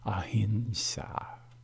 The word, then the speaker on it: ahimsa: will make you great throughout my video the pronunciation will be a Hinshaw namaste I bow to